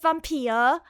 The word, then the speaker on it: Vampir: Like, you know, the V, for example, there's different ways to pronounce a V. There's Vogel and Vampir.